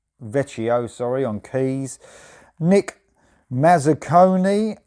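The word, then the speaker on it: Vecchio: go so simon mullerani on guitar alexandro del pechio veccio sorry on keys nick mazzucconi on the base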